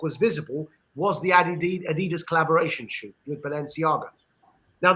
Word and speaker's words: Adidas: the collaboration was with Adidas or Adidas as we say in England but Americans say Adidas the collaboration was with